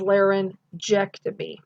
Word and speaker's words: laryngectomy: intuitive as well um if we have a g that is at the end of a word root okay and that g is followed by an e or an i then you're going to pronounce it as the soft g which is actually the j sound okay so an example